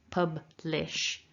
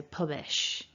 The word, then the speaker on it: publish: Publish, the b and the al are neighbours, but they're not blended.